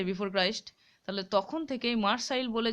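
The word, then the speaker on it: Marseille: Boat from মার্সাইলস, এইটার উচ্চারণটা হচ্ছে মার্সাইল, ঠিক আছে? মার্সাইল বানানটা অ্যাকচুয়ালি এসটা হলো প্লুরাল লাগিয়েছে, আর LLE পর্যন্ত হলো সিঙ্গুলার বানানটা, ঠিক আছে?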